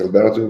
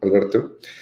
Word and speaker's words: Alberto: people joined together um my name is Alberto by the way Alberto um you can pronounce it as Albert if you want no problem I'm from